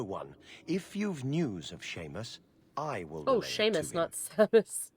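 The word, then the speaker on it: Seamus: her actual name is shame spell spelled seus pronounced Sheamus spelled cobon pronounced shivon yeah true that the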